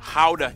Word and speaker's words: Gouda: And the pride and joy of the nation, Gouda cheese. Yep, that's how you pronounce it, guys. Oh, and keep in mind, they use. I eat Gouda cheese.